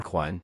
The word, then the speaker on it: 還: Alright, folks buckle up for a doozy of a character: 還 (pronounced "hái" or "huán" depending on how you use it).